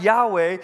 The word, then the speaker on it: Yahweh: spell in public y-h-w-h it's the name we pronounce as Yahweh but they wouldn't let themselves say that name